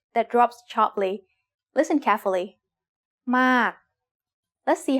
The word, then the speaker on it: มาก: It's the word มาก and it is said with a falling tone because of this rule.